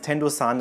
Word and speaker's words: Tendosan: Kleiner Hinweis, Tendo-san ist übrigens die japanische Aussprache für den Berg.